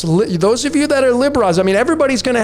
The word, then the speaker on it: Libra: I know a lot of people pronounce it, and I used to pronounce it this way, Libra or Libra, but it's Lib-Ra. There's Ra right there, the sun god.